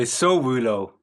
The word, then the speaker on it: Sowulo: How do you pronounce it properly? I would say Sowulo. Sowulo.